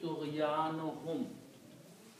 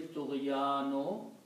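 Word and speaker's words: طُغْيَانِهِمْ: When you combine, you pronounce one Dhamma here, and it will be Tughyanuhum. So I'm going to write that here. Tughyan. I'm just going to write down this way separately. Tughyanu plus hum. Tughyanuhum. Because by combining with the hum, we pronounce only one.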